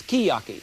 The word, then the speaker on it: sukiyaki: This is not suki. They tell me it's skiyaki. S-U-K-I-Y-A-K-I is pronounced skiyaki.